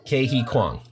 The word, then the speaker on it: Ke Huy Quan: Ke Huy Quan. How do you pronounce it? Ke-Huy Kwang.